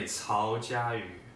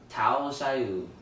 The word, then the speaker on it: Cao Jiayu: It's actually Cao Jiayu. Tao Xiaoyu.